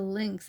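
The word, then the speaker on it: lynx: me I think the links is even though it rhymes with Sphinx in the book that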